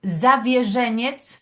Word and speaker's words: Zawierzeniec: La pronunciación polaca es Zawierzeniec.